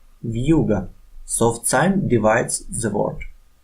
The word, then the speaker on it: вьюга: Functions of the soft sign are to soften the consonant and to divide the word. Compare a word with a soft sign and without it. Вьюга, вьюга, вью, вьюга, вью, вьюга.